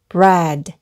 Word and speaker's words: bread: 을 의미 하며 , 여기 서 EA 는 " 이 " 가 아니라 " 에 " 로 발음 됩니다 . 그러니까 처음 부터 읽어 보면 B 는 b 이고 R 은 r 이니까 , 여기 까지 는 bread 라고 읽으면 됩니다 .